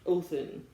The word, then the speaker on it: Odin: at the end because the hard D doesn't seem to really be a thing because even for Odin a lot of people a lot of times it's pronounced othon so even that Dean